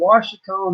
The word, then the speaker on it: Ouachita: That's the Washita National Forest in southeastern Oklahoma or south central Oklahoma. And it's OACHITA. It's not pronounced like it's spelled.